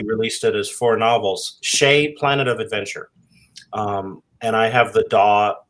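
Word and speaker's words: Tschai: explored a different alien species on the planet Shea um and by the way I know how to pronounce it because I asked Jack Vance how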